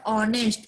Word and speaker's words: honest: We can use an article for honest, H-O-N-E-S-T, because H-O-N-E-S-T, in this word, the sound of honest, H is a. It's a silent, so that we can use an article.